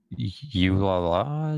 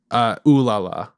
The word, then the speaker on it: Ulala: Yeah, I didn't actually know who Yulala, is that how you pronounce it? Ooh La La.